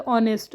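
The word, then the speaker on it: honest: अब अगर हम यहां इसको देखें स्पेलिंग तो यह भले ही एच से स्टार्ट हो रही है बट अगर हम इसको प्रोनाउंस करें तो ऑनेस्ट।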